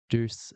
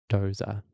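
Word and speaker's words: Doose: who was getting frustrated that everyone calls it Duce syndrome in Australia, but I'm told that it's Doza syndrome.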